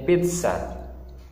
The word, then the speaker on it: pizza: juga saya seperti reset tapi kalau di tengah Dia membacanya seperti pesta di sini jadinya pizza kalau ditengah pizza pizza pizza seperti mengucapkan TS Hai kali ini Man